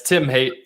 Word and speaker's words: Haight: I don't even ask you if I was pronouncing it right. Yeah, it's Tim Haight, so Tim Haight.